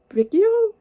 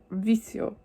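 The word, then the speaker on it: Vicio: appreciated yeah and the next song i believe is pronounced vikio if i remember anything from my spanish clashes but i doubt it okay so i completely butchered that i'm sorry but it's vizio i still got one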